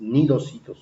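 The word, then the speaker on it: cnidocitos: La C antes de la N no se pronuncia, por eso es que se dice nidarios cuando se escribe C nidario o C nidocitos, no se pronuncia la C, entonces es nidocitos sus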